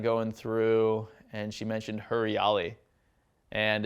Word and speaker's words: Huriyali: so it'd be like if you as it's pronounced her reality but as like an English speaker reader we'd be like Harry yali we're like all right we don't want hair